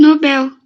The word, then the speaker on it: Nobel: você costuma pronunciar o nobel nobel é uma palavra oxítona tá em inglês eu acho que ela é nobel se eu não me